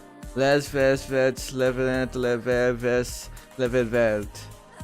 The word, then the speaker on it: les: Oh yeah, les is pronounced le. Ver is pronounced ver. Like they just don't pronounce the s.